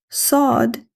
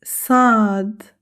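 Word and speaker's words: صاد: The articulation of sad is same area as seen but pronounced heavily. Sound heavy s. The important point to be noted is that the tongue rises slightly. The mouth becomes fuller. Practice with me now.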